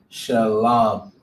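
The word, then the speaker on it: שלום: this all right but you wouldn't pronounce the wha all right it's just shalom so it'd be like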